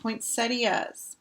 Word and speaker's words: poinsettia: gold foil center on four syllables that's the correct way to say it mary huh point setius so i was saying it right poinsettias poinsettia i've got one